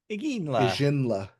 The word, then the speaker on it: Iginla: first pick was Tej Iginla. Ijinla. Iginla. Soft G. I like Yeah, it. soft G.